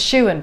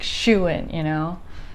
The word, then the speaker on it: Shewan: And I just remember the first things you're saying, you're like, my name is Shewan, pronounced like Shewan, And then I remember you saying, for some